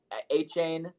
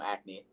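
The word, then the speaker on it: Achane: __ ] okay Devin a chain I was about to say his name wrong because I always call him Acme Devin a chain has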